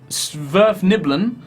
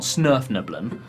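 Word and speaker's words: Svirfneblin: The party met with a bunch of Sverfniblin, I think is the correct pronunciation. I got it slightly wrong. They're not Snurfniblin.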